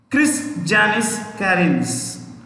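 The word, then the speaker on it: Krišjānis Kariņš: stay away from russia that prime minister chris janice karins has spell chris janice k r i s j a n i s chris janice karens k a r i n s karens chris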